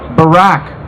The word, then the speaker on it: Barack: Obama Barack Hussein Obama Barack kind of rhymes with Iraq Hussein we all know